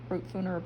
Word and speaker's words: Brutfuner: So we've been working on her face, and we've been trying out these new nifty Brutfuner, is that how you say it? Yep, Brutfuner pencils.